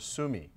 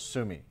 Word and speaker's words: sumi: it's quite commonly called sumi which is a more like a japanese pronunciation but the characters are